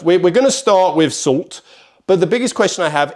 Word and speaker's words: Soult: out with this, but I think it's Soult with a T is pronounced. I have heard it other ways as well, but I'm going to go with Soult in terms of pronunciation.